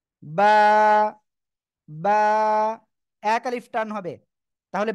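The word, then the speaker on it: ب: আমরা শিখবো বা অক্ষরটা বা অক্ষরটা কোন জায়গা থেকে উচ্চারণ হবে এই যে দেখতে পাচ্ছেন দুই ঠোঁট এই দুই ঠোঁট দুই ঠোঁটের ভিজা অংশ থেকে দুই ঠোঁটের ভিজা অংশ থেকে সিম্পল দুই ঠোঁট বন্ধ করেন বন্ধ করে উচ্চারণ করতে হবে বা বা এক আলিফ টান হবে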